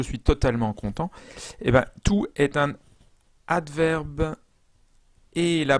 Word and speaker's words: toute: complètement content, je suis totalement content, eh bien, tout est un adverbe. Et la prononciation, c'est.